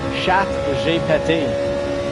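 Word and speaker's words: ChatGPT: Well, in a proper French from France pronunciation is shhat jet which translates in English to cat I farted and in French it jet is cat I farted.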